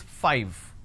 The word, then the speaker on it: five: a while ago is five all right now the pronunciation is 5 f i v e five so I need to I need to bite my lower lip to end the word it's five the second